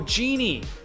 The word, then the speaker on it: Djinn: Oh, Genie! You don't pronounce the D.